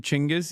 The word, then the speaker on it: Chingis: Uh just learned he you pronounce his name Chingis.